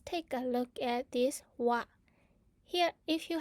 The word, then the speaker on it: は: is used as particle so instead of pronouncing as ha you have to pronounce it as what now one what now